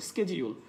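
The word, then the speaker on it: schedule: হবে না হবে অমলেট, শিডিউল বলা যাবে না, আইদার শেডিউল অথবা স্কেজিউল, লাক্সারি বলা যাবে না,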